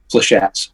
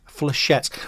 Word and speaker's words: Flechettes: I'm the lead singer of Flechettes from Wigan. Oh, Flechettes. Is that how you say it? I've been calling it say it again. How'd you say it? Flechettes. Flechettes.